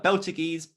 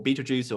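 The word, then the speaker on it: Betelgeuse: a red supergiant uh beltigees or beetlejuice or uh beetle guys depending on who wants to pronounce it uh as my scale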